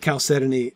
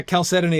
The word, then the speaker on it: chalcedony: I was pretty sure about the end part of the word because it rhymes with ebony.